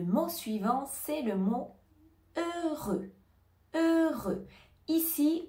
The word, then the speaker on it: heureux: suivant c'est le mot heureux heureux ici on ne va pas prononcer le h au début du mot mot et on ne